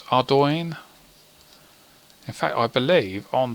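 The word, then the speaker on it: Ardougne: Pronounce. It's Ardoin.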